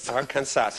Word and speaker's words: Arkansas: France Paul our consensus Arkansas Arkansas do we do be your right while you're in the next round I shall not mind if you pronounce the odd final s I do it myself